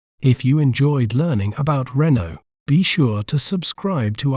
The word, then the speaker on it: Renault: word to better understand its pronunciation we may pronounce it as Renault Renault re no Renault Renault is also known for its innovative designs